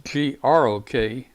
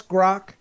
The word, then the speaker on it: Grok: I think I thought it was spelled G-O-R-K, but I think it's G-R-O-K. How would you pronounce that? That's Grok.